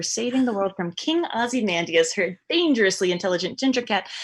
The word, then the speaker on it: Ozymandias: It's King Ozymandias. You have to have the invisible. Oh, I'm sorry. King Ozymandias.